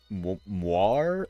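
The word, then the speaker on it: moiré: the really cool uh moir effects I believe is how it's pronounced m o i r e it's French I I think it's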